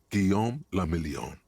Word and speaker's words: Guillaume le Million: For Revachol, your city, that meant only one thing: Guillaume le Million. If it doesn't rhyme, you're not pronouncing it right.